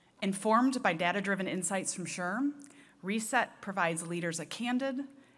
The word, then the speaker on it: SHRM: Taylor, President and CEO of SHRM, pronounced SHRM, the Society for Human Resource Management, based in Alexandria, Virginia.